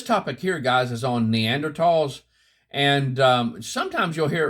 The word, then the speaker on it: Neanderthal: Uh, this topic here, guys, is on Neanderls. And, um, sometimes you'll hear it referred to as Neanderthal. Neanderthal. It's actually pronounced Neanderl.